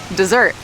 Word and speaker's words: Desert: however the locals say dessert and I said hm that's interesting because it doesn't have two es like dessert does and I think that